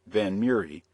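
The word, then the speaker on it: Vanhomrigh: Miss Hester or Esther van homry the daughter of a rather wealthy Widow who was living in London at that time miss van homry a name which she and her mother pronounced van mury was then 17 years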